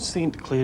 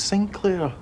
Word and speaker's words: St. Clair: It's not St. Clair, it's Sinclair. Why do people keep getting my name wrong?